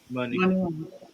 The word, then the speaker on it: Muni: How do you say this? Muni Long? Money. Muni Long. Damn, I've been saying Mooney.